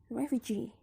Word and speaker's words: refugee: the suffix is e in the word refuge the stress is in the last syllable huge but in the refugee stress is in the suffix e so the primary stress is on g the secondary stress is on ref then the next way